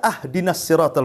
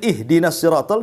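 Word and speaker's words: اهدنا الصراط: Kita baca ahdinasiratal mustaqim. Harusnya dikasr kita fathah pula tuh. Harusnya ihdinasiratal kita katakan ahdinasiratal.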